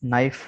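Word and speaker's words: know: ठीक है, के साथ एन आ गया तो ये के साइलेंट हो जाएगा। इसकी मीनिंग देख लेते हैं। नाइफ, नाइफ का माना चाकू है।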